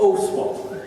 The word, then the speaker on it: Oswald: He tried to teach me before how to say the last name, but Oswald. Is that better? Okay. It's an O with an S on the end.